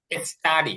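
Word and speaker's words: study: এর আগে এস আসছে কারণ টি এর আগে যদি এস আসে তখন এটা আর ওরকম উচ্চারণ হয় না তখন স্বাভাবিক টি উচ্চারণ হয় স্টাডি অধ্যায়ন করা ওপেন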